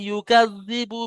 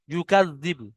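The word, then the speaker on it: يُكَذِّبُ: আর আইতাল্লাযী, আর আইতাল্লাযী ইউকাযযিবু, ইউকাযযিবু, এটা উচ্চারণ করতে অনেক জনের সমস্যা হচ্ছে, কেটে কেটে বানান করে নেবেন। ইয়া পেশ ইউ, কাফ জাল জাবার কাজ, ইউকাজ, জাল পেশ জিব, বা পেশ বু, ইউকাযযিবু বিদ্দিন, ইউকাযযিবু বিদ্দিন।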